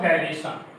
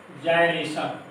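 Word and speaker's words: gyration: Pronunciation जो लिखा है गायरेशन, जायरेशन, ये दोनों प्रोनाउंसिएशन हो सकता है। करेक्ट प्रोनाउंसिएशन है जायरेशन, होना क्या चाहिए रेडियस ऑफ जायरेशन, लेकिन मोस्ट ऑफ द पर्सन बोलते हैं गायरेशन, मोस्टली यही बोला जाता है।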